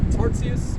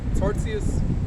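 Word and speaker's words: Tartus: it was in uh tarzius that's how you pronounce it over there in syria okay tarzius okay first thought on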